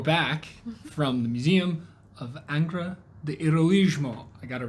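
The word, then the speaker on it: Angra do Heroísmo: well we're back from the Museum of angra the heroismo I got it right I looked it up to make sure I was pronouncing it right because I feel like I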